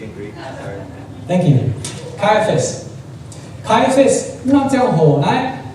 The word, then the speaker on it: Caiaphas: khai phát Ricky, do you know how to pronounce this? C-A-I-A? Caiaphas. Thanks, Ricky. I have to see it in Greek. Sorry. Thank you. Caiaphas.